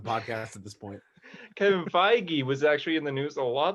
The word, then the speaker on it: Feige: Feige, for God's sake. Yeah, I was gonna say, have I been pronouncing it wrong?